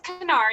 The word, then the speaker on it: Kanar: And the first name is Kanar. You do pronounce the K, which Margarita probably knows.